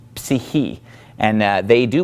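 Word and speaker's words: ψυχή: English someone's psyche well psyche comes from the Greek word see he see he and they do pronounce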